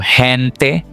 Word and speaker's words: gente: For example, gente o gigante, gigante.